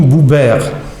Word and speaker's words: Buber: Ce sont types de foi selon Martin Buber. Je prononce à l'anglais parce que voilà, c'est autrichien et juif aussi, philosophe.